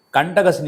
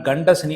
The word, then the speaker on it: கண்டக சனி: கண்டக சனி என்றால் கண்ட சனி என்று பேர் தவறாக உச்சரிக்கிறார் கண்ட சனி அல்ல கண்டக சனி கண்டக சனி என்றால் கண்டவர்கள் கண்படுகின்ற சனி